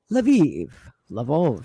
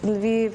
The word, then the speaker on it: Lviv: Well, let's go to Lvov, however you want to pronounce it. In 1939, Lviv, or Lvov at that time, was under Polish control.